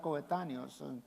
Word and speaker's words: coetáneos: esta joven representa verdad eran coetáneos así se pronuncia verdad coetáneos y los dos eran de la misma edad